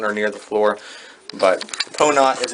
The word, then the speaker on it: Pono: Anyways, he wants to call it Ponot. It's spelled P-O-N-O, but pronounced, best I can tell, Ponot, and it means having goodness of spirit.